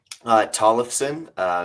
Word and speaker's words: Tollefson: Tollefson.